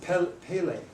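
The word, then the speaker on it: πάλη: It's the Greek word pele. Like, remember the guy, remember the futbolista? ¿Recuerdan al futbolista Yeah, Pelé? Pele. Okay, it sounds just like that, but it's written a little different.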